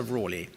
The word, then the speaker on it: Raleigh: a direct descendant of sir walter rawley that is his preferred pronunciation you may well have